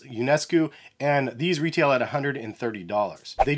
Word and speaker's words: Ionescu: But this is the iconic colorway of the Sabrina ones from Nike, and I believe Sabrina's last name is pronounced Ionescu, and these retail at $130.